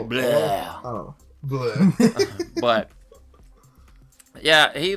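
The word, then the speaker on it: Blough: Blau, blue, bleh. Yeah. It's more like bleh.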